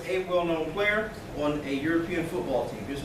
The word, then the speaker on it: European: A European, because we've got a consonant sound there. See, the E is silent in Europe.